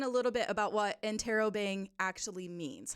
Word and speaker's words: Interrobang: We Interrobang? pronounce it Interrobang.